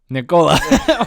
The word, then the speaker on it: Nicola: and i'll get nicola nicola she said it's like ricola because that's how you say it yeah it's called like